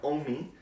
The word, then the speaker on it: OMI: Now, if you couldn't tell, for today's Summer Throwback Series video, we are focusing on Cheerleader by OMI. Rhymes with foamy.